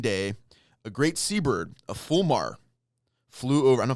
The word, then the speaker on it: fulmar: Fear, not Flumar. I said it wrong. Fulmar.